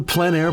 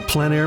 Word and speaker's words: plein air: This is the PleinAir Podcast with Eric Rhoads, publisher and founder of PleinAir Magazine.